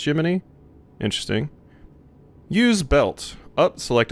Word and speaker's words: Gemini: It was pronounced Jiminy, but this is spelled Gemini, but is pronounced Jiminy.